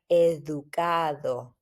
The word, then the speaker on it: educado: Also, here, the D, make sure that the pronunciation is like a TH in English, which is super soft, like educado.